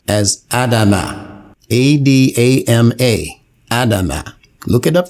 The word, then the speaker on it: Adam: The pronunciation then becomes Adam, as the scholars give it in their literature. But this is not the pronunciation given in the Quran. In the Quran, it is given as Adama. Every time you see it, you're going to see Adama, which, as I have stated, is a verb.